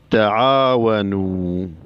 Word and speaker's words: تعاونوا: الألف الفارقة هي الألف التي تكتب بعد واو الجماعة المتصلة بالأفعال ولا تلفظ. تعاونوا.